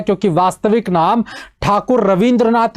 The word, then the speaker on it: ठाकुर: मैंने ठाकुर शब्द इसलिए बोला है क्योंकि वास्तविक नाम ठाकुर रविंद्रनाथ ही है। इस ठाकुर शब्द को अंग्रेज लोग जब आए तो वो ठाकुर प्रोनाउंसिएशन कर नहीं पाए, तो उन्होंने ठाकुर का प्रोनाउंसिएशन टैगोर में किया।